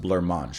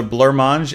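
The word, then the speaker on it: blancmange: said that that's pronounced blur mange right I think that's how you guys said I should pronounce that blur as the main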